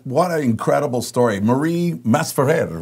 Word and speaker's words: Masferrer: Marie Masferrer, right? Is that how yes. you pronounce it?